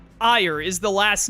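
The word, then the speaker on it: Aegir: No, it's Ire is the last name. It's like A-E-G-I-R. It's an R at the end, not an S, so it's Ire.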